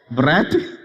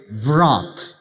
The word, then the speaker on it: wrath: Wrath. See, the British English says wrath. But the American English says wrath. Sounds like a broth, So everybody got a